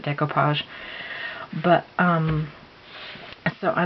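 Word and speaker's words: découpage: Marikana that it says it looks like it says dayco page but I pronounce it decoupage but um so I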